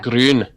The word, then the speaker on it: Grun: No, it's Grun. Yeah. Grun. Grun, yeah. Gotta get that rolling R in there.